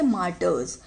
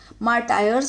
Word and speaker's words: martyrs: मार्टर्स, मार्टायर्स मत बोल देना इसको, ठीक है।